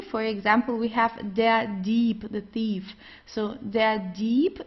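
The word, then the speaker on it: Dieb: Uh also the B it's not pronounced very strong. So it's not deep or so. It's deep. Sounds more like a P at the end.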